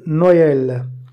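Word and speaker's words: Noël: அடுத்து த்ரேமா யூஸ் பண்ணி இன்னொரு எக்ஸாம்பிள் நோயல், நோயல் பாருங்கள் ஈ வந்து ஈஎல் நோயல். ஃப்ரான்ஸில் முக்கியமாக கொண்டாடப்படுற பண்டிகைங்க, முக்கியமான ஃபேத்து துங்க் சில நோயல்.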